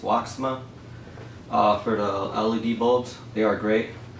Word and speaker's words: WOXMA: Hey YouTube, I want to thank again, I believe it's pronounced Woxma, for the LED bulbs.